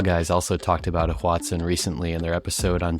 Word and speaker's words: Hoatzin: All right, well, should we get into the am I saying it right, the Hoatzin?